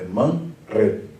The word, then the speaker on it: Manre: Aqui no versículo 18, você vai ter man, re. Porque o re no hebraico nunca assume essa forma forte. Re. É man, re. Tá? Então, man, re no hebraico e man, re no português.